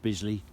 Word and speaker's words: Bisley: Yeah, Bisley rhymes with drizzly.